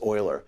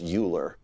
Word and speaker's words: Euler: it's it's called the oiler relation okay leonhard Oiler was one of the great mathematicians of the